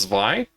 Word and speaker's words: Zwei: Is that how it's pronounced, Zwei?